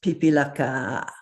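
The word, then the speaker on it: पिपीलिका: word is a beautiful long word that is pronounced pipilaka and it means one of those small insects that crawl around especially in the summer an ant. So this is the word pipilaka that means ant not the sister of your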